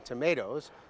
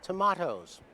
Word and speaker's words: tomato: But Noah Webster, who compiled Webster's dictionary, thought the word should rhyme with potato. So Americans call them tomatoes, while the English still call them tomatoes.